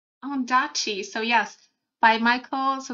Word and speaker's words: Ondaatje: Let me see how to pronounce it because I don't want to mess this up. Oh, I said it right. Ondaatje.